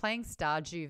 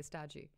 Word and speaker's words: Stardew: It's got a D in there, but like when you're just saying it quickly, Stardew. Stardew. Yeah. Yeah, just like how I say June. D-U-N-E. Yeah. June. But like you do hear the D on it slightly, like June. But it's like it's more of like a DY makes the J sound.